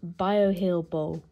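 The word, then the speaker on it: Bioheal Boh: Seeker Barrier cream Mist another correction this is pronounced bio heel bull this can be used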